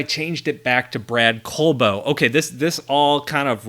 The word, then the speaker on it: Colbo: My last name is Colbo, like a piece of coal and a bow. And when you see it just spelled out there, it's not really apparent that that's how it's pronounced.